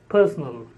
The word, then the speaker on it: personal: written differently spoken differently the word personal is stressed on the first syllable and personnel is stressed on the third syllable personnel personal this is